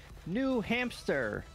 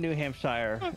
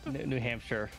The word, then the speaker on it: New Hampshire: on the vehicles no we are in New Hamster that's right from the yeah no we're we're in New Hampshire New Hampshire I said I said it wrong so many times before I finally landed on it there we go uh